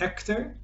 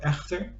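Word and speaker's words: Eggþér: And Ector, or Echter, depends on how you want to pronounce it, he lives on a burial mound in the Ironwood.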